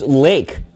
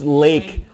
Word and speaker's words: Lache: us bogey 79 was an interesting trivia here pronounced lake that's some good bogey bogey 79 dropping some knowledge in this room it's pronounced lake lake sea strong according to it's spelled l-a-c-h-e